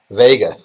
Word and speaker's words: Vega: Is her name pronounced Vega or Vega? Vega. Vega. Like yeah. Las Vegas, so Vega.